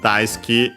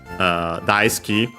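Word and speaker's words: 大好き: Ski, the usual adjective. Accent on the key, unsurprisingly also because the U of Su is barely heard if at all between unvoiced consonants.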